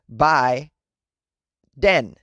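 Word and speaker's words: 梅田: common one in japan they can also be pronounced as bai den the character for yutaka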